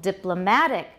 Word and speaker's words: diplomatic: totally different adjectives and where's the stress now on the third syllable diplomatic photographic monotonic i guess